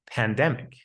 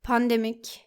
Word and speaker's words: pandemic: It's the same as saying the word pandemic and balance. We don't pronounce it with an ah sound, but with an a sound. We do not say Pandemic. Balance. it's pandemic and balance.